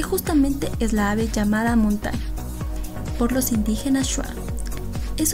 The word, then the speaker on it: Amuntay: Sin embargo, su pronunciación suena como Amunday, dado que en shuar no existen las letras D y T, siendo lo más parecido.